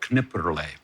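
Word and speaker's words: Knipperlé: grape from Elsass called Kniper. Um KN and you actually do pronounce the K and the N which is not like knife right knife.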